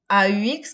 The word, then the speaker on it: aux: soient mentionnées au pluriel utilise ax qui se prononce au comme au singulier au pluriel c'est la même prononciation alors aux piscines je